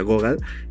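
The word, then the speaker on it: Gogol: igual leana ghoga se escribe google pero se pronuncia ghoga por si lo han visto por allí leí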